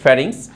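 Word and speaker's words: pharynx: অংশটা এটা হচ্ছে গলাবিল গলাবিলের ইংরেজি হচ্ছে ফ্যারিংস পি এইচ এ আর ওয়াই এন এক্স এই বানানটা কিন্তু একটু কঠিন অবশ্যই তোমরা একটু মনোযোগ দিয়ে দেখবে ফারিংস তারপরে হচ্ছে ফারিংস এর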